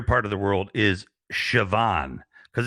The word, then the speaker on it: Siobhan: right it's weird because siobhan to me is like c-h-e-v-o-n or something you know yes all right